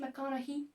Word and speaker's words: McConaughey: Ici, c'est qu'en fait, on ne prononce pas le GH. Le GH est encore une fois silencieux, ce qui donne Matthew McConaughey. C'est juste comme s'il y avait un H McConaughey.